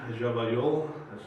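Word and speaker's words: Llavallol: Now what's interesting about Dnipro is that I remember being in Javayol, that's how this suburb of Buenos Aires is pronounced in Argentinian Spanish, and I met people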